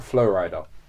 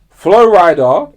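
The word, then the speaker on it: Flo Rida: Flow rider technically Florida. I don't know what he called himself. It's Flow Rider. I think Flow Rider. Yeah, his name is spelled Florida.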